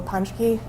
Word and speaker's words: Ponschke: Please, uh, state your name and spell it for the record. My name is Panke, P O N S C H K E.